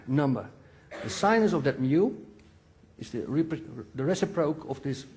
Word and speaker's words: mu: You also see here a angle, mu. The speed, mu, yeah. What's the proper English pronunciation?